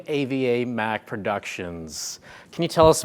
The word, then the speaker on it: AvaMac: It's pronounced AvaMac because it's based off of my business partner, Nuna Ferrara. His daughter's name's Ava, and my daughter's name's Mackenzie.